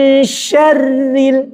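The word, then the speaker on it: شَرِّ: Nah, yang contoh yang kedua min syarri ini yang selama ini kita pakai perasaan bacanya syarri rnya harakatnya kasrah. Maka ketika bunyi syar gak boleh begini min syarri gak boleh. Yang benar min syarril syar tipis. karena harakatnya kas kasrah begitu ya.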